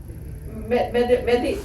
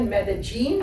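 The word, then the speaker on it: Medellín: is we flew into Medellin. So somebody tell you this pronunciation changes. You can call it Medellin, like a bad pair of jeans. Medellin. Medellin is Spanish. Spanish. Medellin is Colombian.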